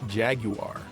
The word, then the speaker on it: Jaguar: Unless you want to play Zool 2, then it's either this, the Amiga proper, the PC, or the Jaguar, or as the British say, Jaguar.